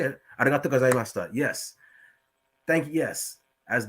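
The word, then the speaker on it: ありがとうございました: Arigato gozaimashita.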